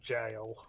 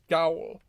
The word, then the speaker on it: gaol: Yes, it is an old English spelling of jail. Gaol. Gowl.